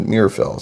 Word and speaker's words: Meerapfel: the label in there I think I mispronounced it last time but mirrell so it's not too difficult this is a churo